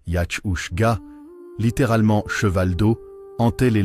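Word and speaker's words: each-uisge: Des traditions orales transmises dans les Highlands racontent qu'un esprit aquatique nommé Ich-Uiske, prononcé Yach-Ushga, littéralement cheval d'eau, hantait les lochs et les rivières.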